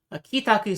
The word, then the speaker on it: 帰宅: So this is the kanji for returning. It's usually used on its own as kairu. So it'd be kairu to return. But when it is added to taku here, it becomes pronounced ki.